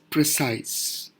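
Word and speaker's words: précis: the English word as precise specifically it's pronunciation is precis in simple terms pra Y s ee this is just for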